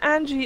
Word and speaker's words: Anji: Angie's team the Jane Angie is like a G sounds rather Angie Angie Angie okay Angie